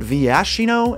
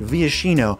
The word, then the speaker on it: Viashino: some people pronounce it vyashino and some people pronounce it viashino and i'm here to objectively tell you that it is one of those two for sure zurilyn of the claw